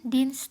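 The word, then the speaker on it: Dienstag: Oke, aku jelasin aja ya cara bacanya. Montak. Montak itu Senin, Dins itu Selasa.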